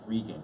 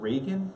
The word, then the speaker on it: Regan: Dames and Moore versus Regan. And again, it's not Reagan. This is not President Reagan. That's what you said? I said it was pronounced Regan. And yeah, it's pronounced Regan.